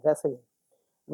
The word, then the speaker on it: wrestling: ये स्टार्ट होता है, देखते हैं, लग रहा है कि आर से होना चाहिए, लेकिन यहाँ डब्ल्यू है, जो डब्ल्यू साइलेंट है। WRESTLING रेसलिंग।